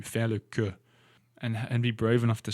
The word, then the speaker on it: queue: in queue in English, Q-U-E-U-E. And Camille writes here in the audiobook notes, watch out, I hear too many pronunciation mistakes on this. Le queue is pronounced exactly like que, as in Q-U-E.